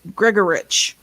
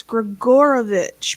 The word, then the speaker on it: Grigorovich: Yeah, like the name Grigorovich. I've heard some people, and that's a Russian name, and it's really Romanian, whatever it is. So I've heard some people go Gregorich. It's like, no, it's Grigorovich, people.